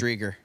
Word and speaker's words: Driedger: if you can give us a report on how to pronounce Chris Driedger's last name correctly. I think it's Driedger.